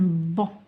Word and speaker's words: banc: Un banc. Un N se prononce en.